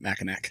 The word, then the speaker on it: Mackinac: So there's actually C at the end, and so I always pronounce it Mackinac because I think it sounds cooler to actually pronounce the final letter there than just Mackinac. So looks like Mackinac, but it's actually Mackinac.